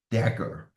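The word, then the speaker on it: dagger: with this cross up here and this is pronounced as a Decker it's a Decker in fact not a cross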